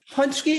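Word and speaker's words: pączki: How do you pronounce that? The donut? Punchki? How is that? Punchki is a big fat Polish donut.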